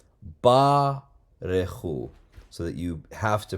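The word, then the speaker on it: ברכו: That is going to be pronounced because it comes after a long vowel. Barechu.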